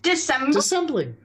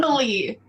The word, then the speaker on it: dissembling: Dissembling. Oh, Dissembling. disassembly. No, dissembling. Dissembling.